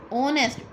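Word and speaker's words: honest: ऑनेस्ट, ऑनेस्ट में H silent है.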